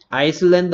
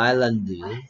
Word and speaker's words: island: 아이슬란드 아닙니다, 아일랜드. S가 소리 묵음, 뮤트.